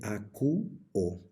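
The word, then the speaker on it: ἀκούω: el verbo a quo Recuerden que aquí tenemos nuevamente un diptongo que se contra Al momento de pronunciarlo se dice aq o que significa oigo en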